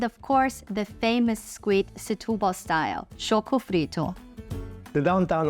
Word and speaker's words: Setúbal: Setubal. Setubal. Yes, this is how you pronounce it.